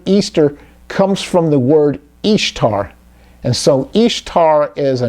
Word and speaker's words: Ishtar: summer ramus became known as istar which is pronounced just like it says ishtar referred to ashtareth in scripture and her moon